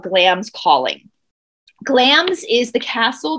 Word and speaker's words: Glamis: platform we're on but glam's calling it's spelled glamis g-l-a-m-i-s calling it's pronounced glams though is a message board